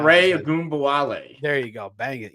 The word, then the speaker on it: Ogunbowale: They still got Dare Ubagun. I can never pronounce Dare that. Ogunbowale.